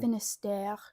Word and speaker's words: Finistère: Today we're going to be bringing you Finister by Kevin Barry. Now, is that how you would say you pronounce that French destination? Finister.